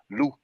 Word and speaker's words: loup: We call it loup, and loup is spelled that way. It's spelled L-O-U-P, but the P is not pronounced, loup.